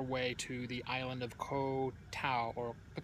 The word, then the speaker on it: Koh Tao: to the island of Koh Tao as it apparently is pronounced because when you say kotal no one knows what you're talking about it's the night